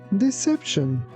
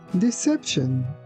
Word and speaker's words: deception: Here again, keep in mind that letter C sounds like S, not C. And also T I O N at the end of this word sounds like shin. That's why we say deception.